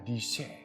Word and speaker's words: discere: berasal dari bahasa Latin discere yang berarti belajar bacanya tulisannya di sebelah sini nanti tetapi bacanya DC yang artinya belajar dari